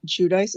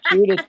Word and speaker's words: Giudice: Yeah, they were fun anyways, but they acted like Joe Giudice. Is that how we pronounce it?